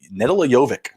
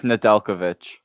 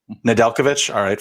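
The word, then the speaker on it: Nedeljković: got is alex nettle nedella jovic did i say that oz i say that right it's nadalkovic nadalkovic i was pronouncing it like he was a tennis player you go ahead oh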